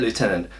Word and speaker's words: Lieutenant: and that you know if we spell it Lieutenant we should say it Lieutenant so for once maybe